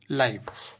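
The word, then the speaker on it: live: लिव means होता है जब हम वर्ब में कहे यूज करते हैं तो लिव मींस रहना ठीक जीवित रहना एक जब हम एल आईवी ई को एडजेक्टिव के तौर पर यूज करेंगे तो हम इसको बोलेंगे लाइव लाइव मींस जिंदा जीवित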